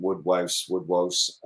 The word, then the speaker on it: woodwose: So you talk about woodwose, right?